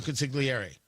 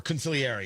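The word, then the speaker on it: consigliere: men as a wartime consiliary or consiliary you're not supposed to pronounce the G as I'm told they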